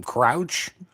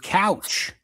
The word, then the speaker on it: Crouch: Crouch. Yeah. That's what it looks like. I was saying Anthony Couch. I totally left the R out of it.